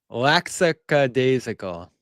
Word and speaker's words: lackadaisical: Lackadaisical is how you say it. Yeah. I am not going to work on mispronouncing a word.